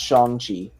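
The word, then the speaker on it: Shang-Chi: me look at i believe it is pronounced shong chi the that movie looks so so yeah so the guy who's playing him did actually make a tweet on his twitter that's pronounced shonji so yeah okay but yep i am looks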